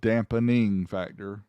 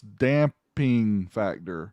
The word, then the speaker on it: damping factor: said it wrong before it's not dampening factor it's damping factor i've i've done the